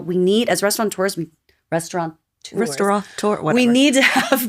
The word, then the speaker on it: restaurateur: I would say restaurateur. Okay, there you go. But according to my every aunt time I spell it, I'm correct.